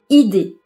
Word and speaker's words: idée: ne le prononce pas si le E est précédé d'une voyelle on ne le prononce pas non plus exemple une chaise une idée si le E est